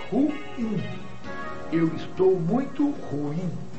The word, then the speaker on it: ruim: O vocábulo em questão é oxítono. É ruim.